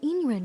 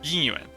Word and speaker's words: Yin Yuan: The Y's are so light, but they are there. So it's Yin Yuan. Yin Yuan.